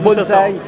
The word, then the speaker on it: bonsaï: C'est Ban d'ailleurs. Banzai. Banzai ou bonsaï. Et donc non, alors on explique déjà aux gens comment ça se prononce.